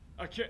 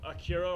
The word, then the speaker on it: Akira: Well, honestly, the only thing I have to really say about Akira or Akira as it's pronounced is you are aware